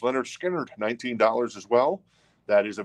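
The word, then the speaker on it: Lynyrd Skynyrd: it's fantastic we have Leonard skinnard pronounced Leonard skinnard $19 as well is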